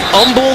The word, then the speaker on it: Humble: Humble. The H is silent, my friend.